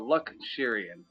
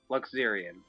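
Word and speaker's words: Luxerion: So Luxurian. Luxurian. Luxurian. Okay, so it's a Z sound, not a sh. Okay. Luxurian. Okay. All good, Osfox. Thank you very much, and welcome to the stream. So, Luxurian.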